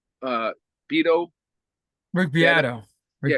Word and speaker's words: Beato: Uh, Beto. Rick Yeah, Beato. Rick yeah. Rick Beto. Beato.